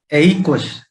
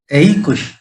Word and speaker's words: aequus: पहला है AEQUUS, इसका उच्चारण है एइकुश। एइकुश, हालांकि स्पेलिंग आपने देखा होगा AEQUS, लेकिन इसका लैटिन भाषा में उच्चारण होता है एइकुश।